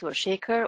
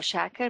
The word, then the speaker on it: Shaker: Basics my name is and Shaker or Shaker both pronunciations are correct I will be your